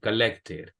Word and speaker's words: collected: college, Aquí ya no, porque tiene T y acá también T, entonces ahí sí pronunciamos la ED. Collected.